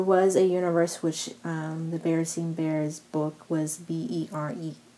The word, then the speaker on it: Berenstain: called the berenstain bears which is spelt be EA RS Pai in as but people seem to remember it as Stein it typically seem like you know Einstein or Frankenstein or things of that nature or the barricade